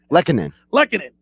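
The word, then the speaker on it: Lehkonen: Lekkonen.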